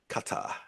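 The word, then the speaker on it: Qatar: Kata.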